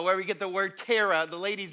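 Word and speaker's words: char: them is actually car c h a r car is how you pronounce it at least and it means to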